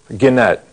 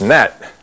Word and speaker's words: gnat: And we'll turn it into a G is for Gannett. No, it's not Gannett. It's gnat. The G is silent.